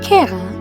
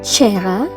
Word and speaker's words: cera: Cera. Wax. Pronounced as "Keh-rah" in Classical Latin, and "CHEH-rah" in Ecclesiastical Latin.